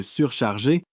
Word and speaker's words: surcharger: Pour la prononciation, faites attention au G de délégué et charger qui se prononce comme dans garage et le S de surcharger est doux comme dans rose.